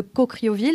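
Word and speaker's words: Caucriauville: famille du tu grandis dans la cité de coocrioville est-ce que c'est comme ça que ça se prononce déjà exactement ça ouais voilà as-tu des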